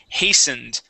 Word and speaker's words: hastened: check out some words first up is hastened that t is going to be silent hastened what is it uh